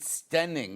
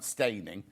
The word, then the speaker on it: Steyning: You might pronounce it Steyning, apparently, not Steyning.